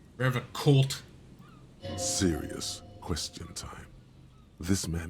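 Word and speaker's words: Revachol: He pronounces Revocol with a hard K, unlike other people. Revocolt.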